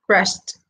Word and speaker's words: crashed: La pronunciación sería como una t, crashed.